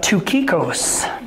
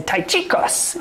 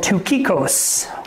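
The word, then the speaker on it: Tychicus: But tukikos. So I'd always want to say taichikos in American. But it's called tukikos.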